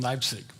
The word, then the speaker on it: Leipzig: Thomas Church in Leipzig. And the I'm giving it the German pronunciation.